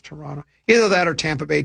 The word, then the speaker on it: Toronto: Toronto. You don't pronounce the T. It's Toronto.